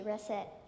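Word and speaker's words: rascette: press it r a s s e t reset reset is spelled r-a-s-c-e-t-t-e this word has a homonym or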